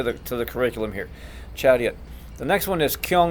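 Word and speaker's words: Charyot: eye but it's pronounced chariot the accent is on the second syllable stands for attention Sagi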